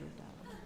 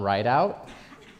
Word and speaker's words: Rideau: My last name is Rideau. Your last name is Rideau, not Rideout?